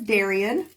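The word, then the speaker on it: Daryan: His name is Darian. And it's spelled D-A-R-Y-A-N.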